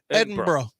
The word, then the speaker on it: Edinburgh: not from Edinburgh because they pronounce it Edinburgh Edinboro it would be Edinburgh well they don't say